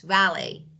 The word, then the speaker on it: valet: valet let me write valet T is not pronounce valy Parks your car or